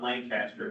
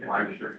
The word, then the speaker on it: Lancaster: It's not Lancaster. How you say it? Lancaster.